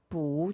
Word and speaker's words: 不: 그런데 뒤에 취가 사성이니까 뿌가 이성으로 성조가 변해야 되겠죠. 그래서 뿌, 취, 学校 라고만 대답을 하시면 돼요. 그리고 일반 동사죠. 취가. 일반 동사 앞에다가 부정, 뿌를 사용할 수 있다고 했으니까